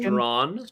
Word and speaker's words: Strachan: Mike Strawn is pronounced Strawn.